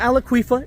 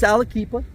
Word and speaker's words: Aliquippa: don't laugh at me I looked up how to say it is that aliquifa is Aliquippa and and uh pretty much